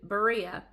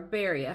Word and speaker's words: Berea: and Silas flee to Berea and or or Baria however you there's two pronunciations of it um as soon